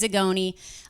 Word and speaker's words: Zagone: If you don't know me, my name is Zagone. Or if you knew me from high school, it's Zamboni. So. Get it? Zamboni cuz it rhymes with Zagone.